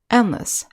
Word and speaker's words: endless: have the suffix less even though less is spelled l-e-s-s it's pronounced list meaningless endless thankless next we have